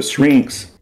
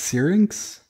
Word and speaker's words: syrinx: that little shrinks um the shrinks you keep calling it uh syrinx isn't it isn't it pronounced syrinx yes syrinx because of that the